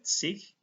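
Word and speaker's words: zwanzig: Kalau bahasa Jerman dipakai akhiran sich. Ini cara bacanya sich. G itu dibaca seperti H, sich.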